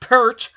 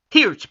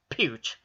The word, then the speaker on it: Peart: Not Peart. Peart. Peart. It's pronounced Peart.